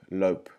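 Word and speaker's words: LOHP: section in that book called hope lope and you spell that h-o-l-p or l-o-h-p and it stands for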